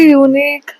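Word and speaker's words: unique: University यूनिक ये सब start होते हैं वोवेल से। अह वोवेल साउंड नहीं होता है बट अ कसोनेंट साउंड होता है यू इन the beginning it is because of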